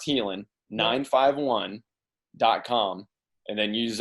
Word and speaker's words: Haelan: l it's h AE lan so healing it's pronounced healing 951 dot-com and then use our discount code